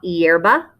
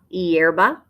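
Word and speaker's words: hierba: the word for grass your h is silent la yerba la yerba a flower or flowers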